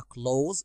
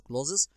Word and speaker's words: clothes: هنا طبعا الكلمة ديت النطق الصحيح بتاعها close، ما نقولش clothes يبقى clothes shop.